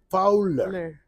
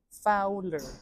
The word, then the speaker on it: Fowler: Fowler. Fowler. Sí. ¿Por qué le ponen O si suena U? Porque la O con la W suena U.